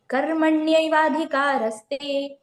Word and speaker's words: कर्मण्येवाधिकारस्ते: जो माँ के ऊपर रा की मात्रा है ना, वो हमें का के साथ पढ़ना है, तो हो जाएगा कर मन्ये वाधिकारस्ते। वाधिकारस्ते, कर्मण्यवाधिकारस्ते। ठीक है, वो ना, ये अच्छे से प्रोनाउंस करना है, नल वाला ना नहीं है ये ना है ना।